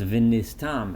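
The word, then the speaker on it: ונסתם: Now, the word v'nastem here is variously translated as what would usually be pronounced v'nistam, and it will be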